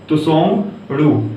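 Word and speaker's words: Tshogdu: ठीक है, ये आधा ता है, त्सोंगडू।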